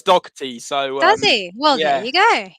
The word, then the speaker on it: Dougherty: to be pronounced because i used to say dokhari and then i found out that it might not be but anyway well the irish hot spot says dog tea so well there you